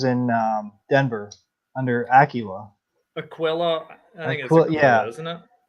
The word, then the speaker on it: Aquila: uh no i know the rule unless you see an accent mark on the a it's aquila okay maybe uh maybe